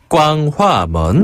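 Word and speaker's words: 光化门: 꽝화먼. 네, 이 빛광자를 중국어로는 꽝이라고 발음하거든요.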